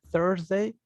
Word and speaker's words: Thursday: Y la otra es Thursday, que es más hacia la O, como pensar en Thor, digamos, de las películas.